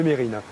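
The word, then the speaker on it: Mesrine: Je vois qu'on garde bien l'habitude aussi de toujours prononcer Messrine au lieu de Mérine.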